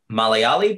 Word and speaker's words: Malayali: And it's funny because like Indian people will ask me if I'm Indian, particularly Malayali people. Mm-hmm. Am I pronouncing that correctly?